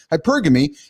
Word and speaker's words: hypergamy: think it's pronounced it hypergamy or hypergami." Hypergamy and its impact on dating and relationships. Lydia, the hyper like atrophy.